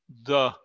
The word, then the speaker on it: the: Cuando la palabra que sigue the comienza por un consonante, se debe pronunciar la letra E, suena como un A en español.